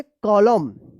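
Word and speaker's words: column: है तो क्या होगा कि यहां पे एन साइलेंट रहेगा तो क्या पढ़ेंगे कॉलम कॉलम पढ़ेंगे कॉलम ठीक है सी ओ एल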